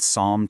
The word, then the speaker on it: psalm: P S A L M. This word is a total curveball. We're talking about a double whammy of silent letters here.